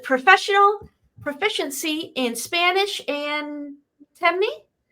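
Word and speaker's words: Temne: She is also multilingual, fluent in English and correct me if I'm wrong on the pronunciation, Creo with professional proficiency in Spanish and Timney. Timney.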